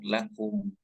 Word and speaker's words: lakum: perbedaannya kemudian juga tadi lakum lakumukum tidak perlu ditahan jadi lakum tidak tapi langsung lakum di langsung lanjut ke